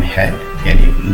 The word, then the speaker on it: Hugh: H Munro यानी Hector ह्यू Munro, HUGHO, इसको हम ह्यू प्रोनाउंस करते हैं।